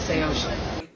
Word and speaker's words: Saosin: Yeah, can you pronounce it? Say ocean.